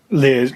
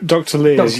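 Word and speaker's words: Leir: Roger, is it pronounced Lears? That was his... Lears, Dr. Lears, yes, indeed.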